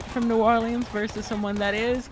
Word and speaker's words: New Orleans: versus someone that is, we never say Nolans. Nolans. New Orleans. We never call it Nolans. But what's funny is it's New Orleans and Orleans Parish, spelled the same way, said two different ways.